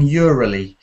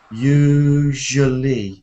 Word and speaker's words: usually: It sounds a bit like you're saying Urally. Ural. It's usual. Do you know television? Je. How do you say je? Je. Yeah, that's it. Now say you, like in boot.